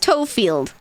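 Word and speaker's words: Tofield: So Toefield, but it's pronounced Toefield.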